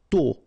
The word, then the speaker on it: tôt: Tôt. Okay, final T not pronounced, and then this O accent circumflex is a bit stronger than normally.